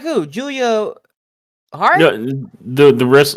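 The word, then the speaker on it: Giulia: say that they acquired Julia yeah like who Julia har no the the wrest no no no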